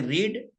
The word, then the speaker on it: read: लेकिन फर्स्ट को बोलते हैं रीड, सेकंड को रेड, थर्ड को भी रेड.